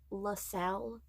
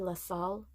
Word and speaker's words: La Salle: So the guy kept saying La Salle, and I'm fairly certain it's supposed to be La Salle. I don't think the E is supposed to be pronounced.